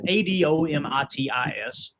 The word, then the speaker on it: Adomitis: Adomitis.